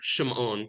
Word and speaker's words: Shimon: And my maternal grandfather was Shimon, or Shimon is the Nashidan pronunciation.